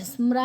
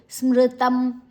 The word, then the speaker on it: ಸ್ಮೃತಂ: ಸ್ಮೃತಂ ಸ್ಮರ ಮೂರು ಅಕ್ಷ ಸ್ಮರ ಅಲ್ಲ ಸ್ಮೃ ಸ್ಮೃತಂ ದಾತವ್ಯಮಿತಿಯದ್ದಾನಂದಿಯತೇನುಪಕಾರಿಣೆ ದೇಶಕಾಲೇಚಪಾತ ತದ್ದಾನಂ ಸಾತ್ವಿಕಂ